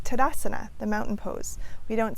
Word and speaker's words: Tadasana: more foundational asanas, like Tadasana, the mountain pose. We don't say Tadasana, and we don't say Tadasana, we say Tadasana.